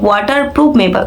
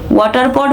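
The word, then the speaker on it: waterproof: ওটা ওয়াটার প্রুফ makeup হবে, ওয়াটার পড makeup না, বুঝলেন কাকিমা?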